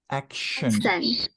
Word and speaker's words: action: Action. Yes. So the first part is ak, and then shan.